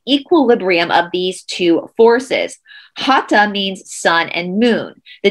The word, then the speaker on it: hatha: to focus on of hata yoga so again hatha yoga is spelled h-a-t-h-a but it's hat ha because the th in sanskrit does not make the tha sound so it's hata yoga the force that moves